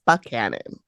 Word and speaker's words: Buckhannon: the city is called Buckhannon I think he said it's spelled like Buchanan but he I think she's like a buck Cannon okay it just sounded